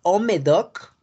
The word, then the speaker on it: Haut-Médoc: la región de Pauillac, Molly, Listrac, Margaux, el Haut-Médoc, que se escriba, como se escribe con H, Haut-Médoc, ¿no?